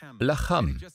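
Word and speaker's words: לחם: Es wird genau gleich geschrieben. Lechem. Lacham. Es wird nur anders ausgesprochen.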